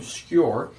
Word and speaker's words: Skur: name uh the name skewer which is pronounced on the spelling on the screen it's like your but with an s k in front of it it's so obscure pretty